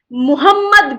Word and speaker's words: Muhammad: Now let's move to the next, which is Muhammad Ghori. We have to understand the pronunciation very, very carefully. The earlier one was Mahmud, and this is Muhammad. This is Muhammad Ghori.